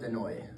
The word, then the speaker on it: Desnoyers: the bat in Caleb Desnoyers. Desnoyers, okay. Or Caleb Desnoyers in French.